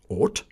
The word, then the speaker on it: ought: For example, there are many different pronunciations of O-U-G-H. Ought, through, enough.